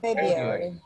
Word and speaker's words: February: Four syllables. One more time. February. Repeat with me. February. February. February. February. February.